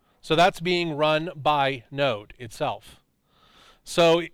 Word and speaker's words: Node: It starts with N and rhymes with bode. Node.